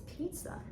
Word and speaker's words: pizza: I mean, I just realised it's pizza. Yeah, you just see the I letter and you just assume it has to be a short E sound, but it isn't. It's the long Yeah. E.